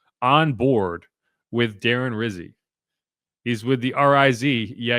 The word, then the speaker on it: Rizzi: next Saints head coach has a name that rhymes with fizzy. As Cam Jordan indicated, it also rhymes with Drizzy and with Pizzy. Yeah. So anyway, yeah. Okay. Alvin Kamara is a Darren Rizzi guy, and he made that clear.